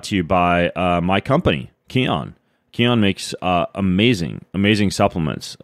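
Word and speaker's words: Kion: It's all over at Keon, K-I-O-N, key, like prana, chakra, life force, energy. That's what key stands for, and that's how you pronounce it.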